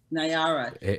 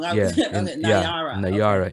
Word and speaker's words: Nayara: Nayara. I keep saying her name wrong. Nayara.